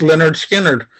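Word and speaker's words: Lynyrd Skynyrd: It also ends their first song, their first album, you know, pronounced Leonard Skinner.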